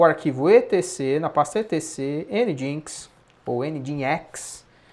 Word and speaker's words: nginx: que a gente vai utilizar, vai configurar no Nginx, tá?